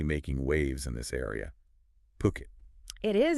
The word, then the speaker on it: Phuket: Remember, it's pronounced Puket, not Fuket.